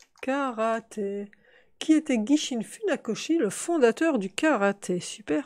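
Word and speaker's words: Funakoshi: qui était guy chine fut nakashi fut nakoshi de joie c'est un os et non pas un qui était dit chine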